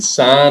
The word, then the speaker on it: sine: these things now against this is not pronounced pronounced sin this is the sine of p anytime you're you're dealing